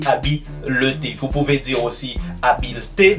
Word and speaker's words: habileté: À ne surtout pas confondre la prononciation de ces deux mots, habilité et habileté.